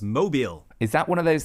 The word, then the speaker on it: Mobile: But the town in Alabama that's spelled Mobile is pronounced Mobile.